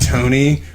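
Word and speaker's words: Toney: What if I named my kid Tony, but I just put an E between the N and the Y for no reason? Tone, so sound tone and then a Y. E. It's pronounced the same way, but it just pisses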